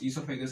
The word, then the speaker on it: oesophagus: ईसोफेगस की spelling होती है OESOPHAGUS, ईसोफेगस बोलते हैं इसको, ठीक है ना। ओ साइलेंट है इसके अंदर, ठीक है।